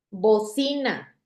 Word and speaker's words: bocina: Bocina. ¿Dónde está la sílaba tónica? En sí, que es la penúltima.